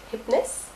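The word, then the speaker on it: Hipness: Pour ceux qui ne comprennent pas ma prononciation, ça s'écrit H-I-P-N-E-2-S, Hypness.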